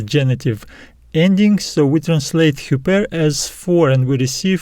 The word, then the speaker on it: ὑπέρ: genitive and the accusative we have the arab breathing marks so we pronounce it as super and the meaning of